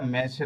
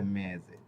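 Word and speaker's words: mese: মেজে এই যে দেখুন এস অক্ষরের পূর্বে একটি বোকালে রয়েছে এস অক্ষরের পরেও বোকালে রয়েছে ওকে মানে এ অক্ষরটা হচ্ছে বুকালে হ্যা তো এইযে এস অক্ষরের আগে এবং পরে বুকালে রয়েছে এজন্য এস অক্ষরের উচ্চারণ জ এর মত হয়ে গেছে এটা মেসে না হয়ে কি হয়ে গেছে মেজে এরপরে এইযে দেখুন পেজারে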